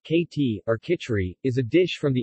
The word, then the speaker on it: khichdi: you khichdi pronounced katy orca tree is a dish from the indian sub-continent made